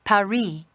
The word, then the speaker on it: Paris: capital of france before yeah well the locals pronounce it paris carmen's conducted a lot of criminal activity here